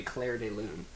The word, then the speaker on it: Clair de Lune: red pubes office see I know it's not pronounced like that but I had to say it it's supposed to be Clair de Lune they're talking about famous